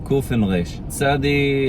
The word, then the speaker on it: tsádi: Tsádi is it's like the combination of the English letters T as in tango and S as in Sierra. Ts. So it's weird for us in English because we need two letters, but they only need one letter.